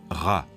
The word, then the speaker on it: Ra: En haut, c'est le disque du soleil, et Champollion sait qu'en copte, il se prononce Ra.